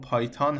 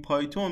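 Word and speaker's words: Python: خدمتتون عرض کنم که خب تلفظ انگلیسی پایتون پایتان هست یا تلفظی مختلف که وجود داره ولی خب ما چون تو فارسی عادت کردیم میگیم پایتون منم تو این ویدیو سعی می‌کنم همون پایتون بگم مثلاً خب یه سری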